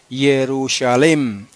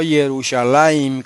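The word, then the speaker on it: ירושלם: que esa forma defectuosa se debe pronunciar jerusalem y no yerushalaim como la ponen los los más orejas discúlpenme que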